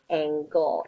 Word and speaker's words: angle: is the word angle it kind of looks like it's spelled like Angel but it's not angle angel would be a-n-g-e-l so an angle is